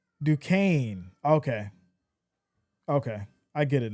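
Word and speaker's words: Duquesne: Uh JJ says, "You say it like Dukane." Okay. Okay, I get it now. Dukane. So the S is silent.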